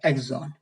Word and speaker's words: exon: एक्सॉन बोलते हैं। EXON, यहां पे स्पेलिंग एरर हो गए हैं, तो ये EXON होता है, एक्सॉन।